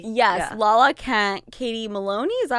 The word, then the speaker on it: Maloney: Lala Kent, Katie Maloney, is that how you say it?